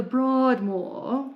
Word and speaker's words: Broadmoor: If you've ever been to the Broadmoor, you have to say it like that.